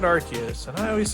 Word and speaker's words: Arceus: we have a definitive answer on how it's pronounced. And you can see it right here. It's broken down in phonetic form, Arceus.